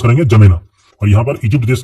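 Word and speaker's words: N'Djamena: देश जिसकी राजधानी है जमेना इसको हम कैसे प्रोनाउंस करेंगे जमेना और यहां पर इजिप्ट देश के नीचे यहां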